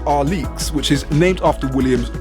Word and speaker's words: Alyx: there's Alex 9sm stand for what it's actually pronounced are leeks which is named after Williams daughter the number